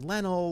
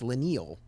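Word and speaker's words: Leinil: name because i've heard leno lanal lionel and according to mark wade it's la neil uh and that was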